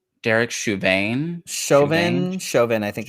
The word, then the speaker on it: Derek Chauvin: Chauvin.